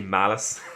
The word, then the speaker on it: Malice: finding out that the heroes, everybody, has been mispronouncing Malice's name the entire season. His name is actually Malice, and it was so good for some of